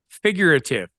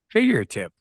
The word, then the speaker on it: figurative: figurative say it again figurative there you go you were putting an extra syllable in there figure tip what's extra saying it